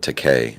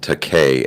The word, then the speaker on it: Takei: seeds of dissent um what's his name george takei yeah um no he pronounces it to k like really i'm gay that's what he said